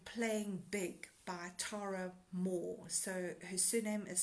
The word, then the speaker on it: Mohr: There's another book called Playing Big by Tara Mohr. So her surname is spelled M-O-H-R.